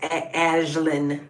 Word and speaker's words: Aislinn: It's actually a derivative of Ashlyn, so it would be pronounced Ashlyn in Celtic.